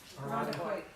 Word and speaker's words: Irondequoit: Irondequoit. Irondequoit.